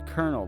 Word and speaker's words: colonel: Then what's a colonel then? Because I thought he was Colonel Sanders, not Bernie Sanders. Oh, okay, that's how it's spelt, but it is pronounced colonel.